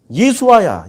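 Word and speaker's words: ישוע: 여호수아가 예수아야, 예수아. 예수님 당시에 예수 이름 히브리식 발음이라고.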